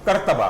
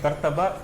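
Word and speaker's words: قرطبہ: पहले आपने जवाब- मस्जिद कुर्तबा। करतबा, कुर्तबा नहीं, करतबा, करतबा, कोर्दोबा। कॉर्दोबा। लेकिन इस वक्त देखें, उर्दू की प्रोनाउंसिएशन ठीक कर लो, फिर अंग्रेजी की भी कर लेना।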